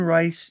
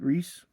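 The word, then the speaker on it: Reis: This is Trinity War chapter 3 House of Cards written by Jeff Laamir covered by Ivan Rice, Joe Praau and uh Rod Rice or is it Reese?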